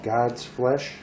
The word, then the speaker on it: God's Flesh: It's God's Flesh, just so you say it right, because I always forget the S on it.